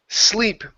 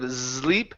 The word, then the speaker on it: sleep: good and let's see next one here is sleep okay give me a an S sound this